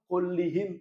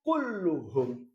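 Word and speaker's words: كُلُّهُمْ: kuhum jaat thullabu kluhum bukan jaatullabu kullihim salah jaatullabu klahum salah yang benar adalah jaat thaabu kluhum Kenapa karena tauhid mengikuti yang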